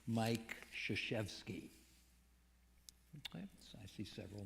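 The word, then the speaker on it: Krzyzewski: I see several nods Mike shazewski whose last name is spelled with five consecutive consonants if you include y as a consonant k r z y z and he lets us off the hook by calling him shashevsky Mike was the fabled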